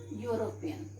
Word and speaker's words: European: starting with e but if we will pronounce this word will come okay you will come and u is a constant sum y o or use a constant sound that's why instead of